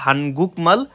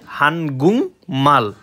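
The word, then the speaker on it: 한국말: আপনি সার্চ দিচ্ছেন এই উপরেরটা হানগুকমাল, কিন্তু সঠিক উচ্চারণ হবে হানগুংমাল।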